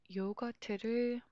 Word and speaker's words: 요거트: Koreans do not have R, so they omitted, removed R. 요거트. Korean word is syllable based. T only cannot be a word and spelled, so we added neutral vowel, 으, 요거트. Again, let's practice making sentences.